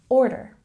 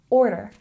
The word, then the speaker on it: order: a look at pronunciation we have a stress on the first syllable order order and a stress on the second syllable here in improve improve and we're reaching the